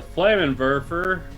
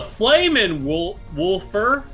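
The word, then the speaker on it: Flammenwerfer: The Flaminwerfer will come here. The Flamin' Wolfer. The W's are pronounced as V's.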